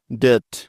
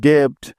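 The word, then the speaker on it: debt: নিতে হবে থ সুতরাং ডি ই বি টি একত্রে মিলে হয়ে যাবে ডেথ ডেথ ডেথ মানে হচ্ছে ঋণ কোনভাবেই এই শব্দটিকে ডেপড পড়া যাবে না ঠিক আছে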